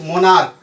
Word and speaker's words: monarch: जैसे मोनार्क, MONARCH, इसको plural बनाना है तो सिर्फ एस जोड़ेंगे और ये हो जाएगा मोनार्क.